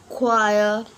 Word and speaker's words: choir: letters for example like choir will not pronounce the letter H and Gauss will not